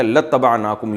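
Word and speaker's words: لاتبعناكم: असल में था इबाना तो हम इत्तबा करते तुम्हारी लाम ताकीद के लिए तो अलिफ साइलेंट हो गया। लतनाकुम यू पढ़ा जाता है इसको।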